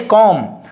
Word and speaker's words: comb: And here is comb pronunciation, okay. Exact pronunciation is comb.